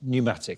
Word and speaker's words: pneumatic: fruit apple yes what word spelled with a silent letter P means filled with air and describes drills powered by compressed air as well as air filled tires pneumatic yes in the English